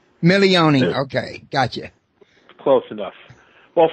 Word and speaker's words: Milione: It's yeah, you pronounce it Milione. Milione.